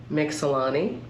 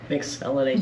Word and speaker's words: Mixellany: here with, Mixellany. Mixellany. You can say You can say Mixellany. it. I'm You're American. You're American. You can say it. And the British say Mixellany.